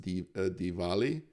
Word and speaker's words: Diwali: it's actually you know this is americanized pronunciation it's supposed to be pronounced diwali uh and uh yeah